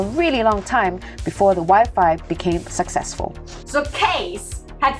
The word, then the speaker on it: Wi-Fi: It rhymes with hi-fi! Hi-fi, Wi-Fi, hi-fi, Wi-Fi!